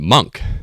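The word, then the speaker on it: Munq: iterations, we settled on Monk. So the name itself is spelled M-U-N-Q, and it's I would say it is renditioned after the monks, the M-O-N-Ks of real life.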